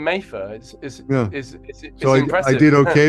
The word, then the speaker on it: Mattha: something yeah not not exactly how how it's pronounced to then finishing with exactly my name mayfer is is I did okay M all right